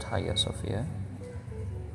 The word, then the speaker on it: Hagia Sophia: istanbul it's a written hagia sofia but it's pronounced haiya sofia are you guys which is also a